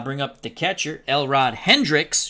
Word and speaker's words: Hendricks: That'll bring up the catcher, Elrod Hendricks, who I continually don't pronounce the S with his last name for some reason.